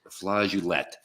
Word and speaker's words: flageolet: According to Mona and Google, it's pronounced flageolet. Flageolet. Unless you're French.